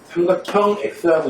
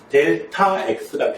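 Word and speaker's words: Δx: 삼각형 방향 써 있는 건데 삼각형 x라고 읽지 않고요. 델타 x라고 읽는 거예요.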